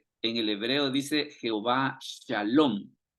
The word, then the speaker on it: Shalom: Por eso es de que ellos en la traducción no ponen Jehová Shalom, sino que lo que ponen es Jehová Salom.